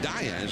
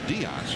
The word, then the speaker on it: Diaz: He's he pronounces it Diaz. His family came over from Spain and the name was was Das. His grandfather thought, well, we want to become Americans. Let's not have the old Spanish pronunciation. Let's go to Diaz.